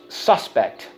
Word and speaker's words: suspect: a thing okay Oh suspect right something that's questionable and you're unsure okay let's go suspect suspect on the first syllable let's go suspect suspect